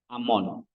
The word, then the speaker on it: Amon: Amon ya atau ee bahasa Yunaninya bacanya Amon.